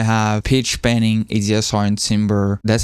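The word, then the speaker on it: timbre: So if I have pitch panning, ADSR and timber, that's how you pronounce it, timber. Tambber selected and I bring this up every time I press a note.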